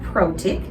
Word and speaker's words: Protic: have a common name my name is protik that's a serbian name by the way and i'll have to spell that for you it's s a b r